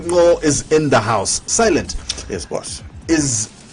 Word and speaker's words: Sylent: Silent. Yes, boss. Is Silent your name?